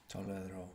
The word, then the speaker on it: tolero: And you moved the Tolero. accent back as well, which is essential for the present tense. Very good. Tolero. If you said tolero, it would mean he tolerated, which, tolero.